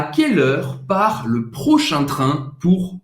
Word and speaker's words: heure: O E no final, ele não vai ser pronunciado, como na maior parte das palavras em francês.